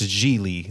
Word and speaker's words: Gigli: early on in the movie he says it's pronounced jely like really but spelled giggly not giggly like like I thought Lewis is Larry's boss